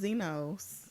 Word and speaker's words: Xenos: but he spells it with an x okay but it's still pronounced xenos okay well generation xenos